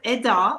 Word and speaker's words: Eda: It's interesting you say that, because Eda, which is how you pronounce my name in Turkish, it's actually a Nordic goddess who is the guardian of wealth and time.